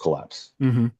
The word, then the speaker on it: KLPS: And if we just type Collapse afterwards, people will still understand it's supposed to be pronounced Collapse.